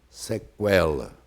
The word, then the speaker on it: sequela: Primeiro, sempre proferido U, sequela.